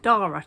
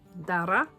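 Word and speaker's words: Darragh: The UK is locking itself down for Storm Dara to come in. That's spelled D-A-R-R-A-G-H. I think it might be an Irish name. Dara.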